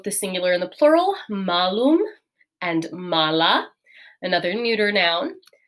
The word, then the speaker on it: malum: be really important uh for our apple word there is going to be that long a so malum and mala versus malus and mala it's slightly different pronunciation all right and can